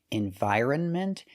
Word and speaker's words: environment: The N is silent. So for this word, we cannot trust the dictionaries. We say environment. Environment. The stress is on the second and fourth syllable. Environment. They lived on every landmass and in every imaginable environment. The first syllable is not stressed, so you hear n. The second syllable is stressed.